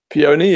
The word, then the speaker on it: Peony: Peony? Peony, yeah.